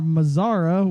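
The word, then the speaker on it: Mazara: Rounding it out is Nomar Mazzara, which is not like Nomar Garcia Parra, even though it rhymes.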